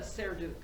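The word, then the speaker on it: Serdyuk: Yana Serduk.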